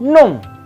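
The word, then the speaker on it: nom: Yang pertama ada numero 1 non. Non. Ya. Kombinasi OM itu berbunyi ong. Ya, sama seperti kalau kombinasi ON. Ong ke atas, bukan ong ke bawah ya.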